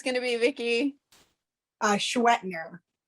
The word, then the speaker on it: Schwendtner: It's got like 5 consonants in the middle that like you really don't need, I don't think.